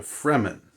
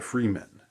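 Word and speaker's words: Fremen: F re m-- n so it's sort of like free men but but they're the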